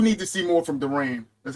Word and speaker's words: Durant: But I do need to see more from Durant.